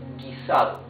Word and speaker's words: guisado: Guisado.